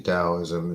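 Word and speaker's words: Daoism: It's actually Dowoism is pronounced with a D. It's a D.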